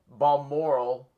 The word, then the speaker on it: Balmoral: She is in, how do you pronounce it again? Balmoral.